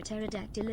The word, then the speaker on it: pterodactyl: for that I disagree why can't you hear a pterodactyl in the washroom the pee is silent Sky Shaman thank you